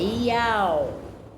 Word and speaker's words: יהוה: Então seria com a pronúncia dos hebreus, Yah, é Iau, porque o som não tem.